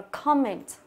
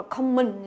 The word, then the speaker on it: comment: Đó, đọc là comment, comment, comment. Người ta đọc nhanh, người ta mình tưởng nó là common nhưng mà nó là comment, comment nhớ. Comment. Như vậy chọn âm thứ nhất và chúng ta đọc o, âm này âm o ngắn.